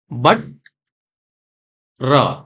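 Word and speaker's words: butter: को हम उच्चारित करेंगे तो ये कैसे बनेगा बट र बटर ठीक है यह वाला ट यूज नहीं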